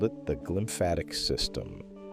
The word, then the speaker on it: glymphatic: They called it the glymphatic system, pronounced glymphatic, a word stitched together from glia, the support cells of the brain, and lymphatic, the fluid waste network that serves the rest of the body.